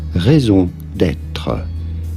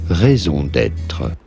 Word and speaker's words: raison d'être: For reference, in French we would say it as raison d'être. Raison d'être. Raison d'être.